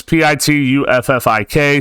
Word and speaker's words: Pituffik: Oh my God, you don't know how to pronounce that. No, I don't. It's Pituffik, space base.